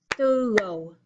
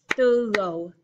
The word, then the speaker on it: thorough: Our last word here is two syllables, thorough, thorough.